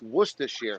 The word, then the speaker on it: Worcestershire: It's pronounced Worcestershire sauce.